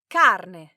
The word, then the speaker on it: carne: cazzone, carne, If you're in a restaurant and you want to order meat, make sure that you pronounce this word correctly and really accentuate that letter R.